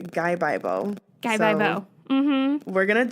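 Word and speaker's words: 가위바위보: Scissors, which is like, if you pronounce the words fast, you say Gaibaibo.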